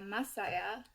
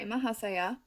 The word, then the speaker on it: Mahasaya: been in, we have the card of Masaya, I believe is how it's pronounced. Let me actually double check that. This is Mahasaya. Sorry, Mahasaya.